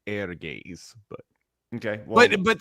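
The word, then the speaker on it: Ehrgeiz: no it would be if it's a Japanese tell be air gaze but okay well but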